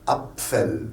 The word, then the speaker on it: Apfel: Donc, vous avez un PF, vous dites Apfel.